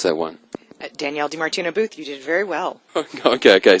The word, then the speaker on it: DiMartino Booth: How do I pronounce that one? Danielle DiMartino Booth, you did very well.